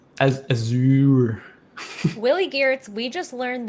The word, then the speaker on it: Azure: But yeah, it's pronounced as Azure. Willie Geertz, we just learned that it's pronounced Azure. Okay. Do we have? It is in French. I was about to say pronounced. It is pronounced Azure in French.